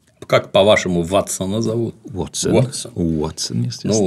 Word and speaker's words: Ватсон: Как ты его произносишь? Как, по-вашему, Ватсона зовут? Ватсон.